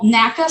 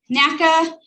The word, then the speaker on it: NACA: into nasa and so naca is an initialism right and then and it's pronounced by the individual letters naca we don't really call it naca and then there's nasa which we is is um an acronym that we just run it all together and make a word